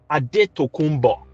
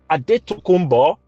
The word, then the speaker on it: Adetokunbo: feel like i did that's what they call him in america but we call him adetokunbo that is the real pronunciation of the name a daytokumba it was by the